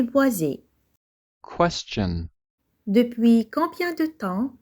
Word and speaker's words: boisé: Prenons le mot boisé. Dans ce mot, le S se trouve entre 2 voyelles, la voyelle I et la voyelle E. On entend Z, boisé.